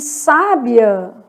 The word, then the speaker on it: sábia: E sábia, se tem acento no vizinho, o final fica juntinho.